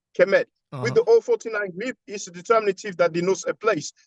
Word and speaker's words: Kemet: So indeed, to answer your question, when you have the I6 glyph, the loaf of bread, that's phonetically pronounced Kemet.